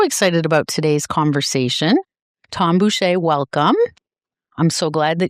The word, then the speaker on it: Boucher: Boucher. Oh, jeez. Boucher.